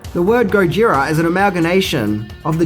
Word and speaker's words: Gojira: film were originally called Gojira which is the Japanese pronunciation of the name but there is actually an interesting story behind this name the word Gojira is an amalgamation of